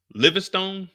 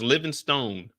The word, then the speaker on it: Livingstone: And it's Livingstone, not Livingston. Because at first I thought they were saying it wrong. I thought he was joking around like Livingstone, but it's Livingstone, like legit Livingstone.